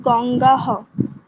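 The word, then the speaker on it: গঙ্গাঃ: মঞ্জু, গঙ্গা গঙ্গে গঙ্গাহ। গঙ্গা গঙ্গে গঙ্গাহ। গঙ্গা হ নয় কিন্তু, গঙ্গাহ।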